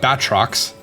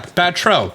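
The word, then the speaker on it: Batreaux: Because it's not Batrox. No, that sounds weird. Yeah, if we're gonna go with French, I assume it's gonna be Batro.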